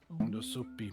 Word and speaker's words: Nusupi: Nusupi, because U is pronounced as an O.